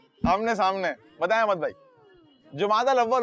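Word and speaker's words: جمادى الأولى: लफ्ज जो है ना, तलफ्फुज यानी प्रोनाउंस, इसको इस तरह करते हैं जुमादल अव्वल। क्या कहते हैं? जुमादल उला कहते हैं या जुमादल अव्वल कहते हैं? जुमाद होता है ये, जमात नहीं।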